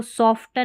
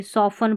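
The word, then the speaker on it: soften: यहाँ पर सेम ऐसे ही इसको सॉफ्टन नहीं पढ़ते, सॉफन पढ़ते हैं, सॉफ्टन नहीं सॉफन। तो यहाँ पर देखिए टी है, ये वाला साइलेंट है सॉफन में।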